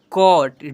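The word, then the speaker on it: caught: तो 10 नंबर में जब किसी वर्ड में ए यू आए तो ए यू को औ से पढ़ते हैं। सी ए यू जी एच टी कॉट डी ए यू जी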